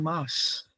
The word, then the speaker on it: Mars: So, ich beobachte sehr gern Mars. What is this Mars? Mars. Ja. He didn't say Mars. He said Mars. You saw how that R is not pronounced? It gets merged with the vowel.